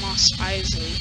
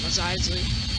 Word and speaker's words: Mos Eisley: And I said it wrong, didn't I? Said Mos Eisley. It's Mos Eisley. Not Mos Eisley.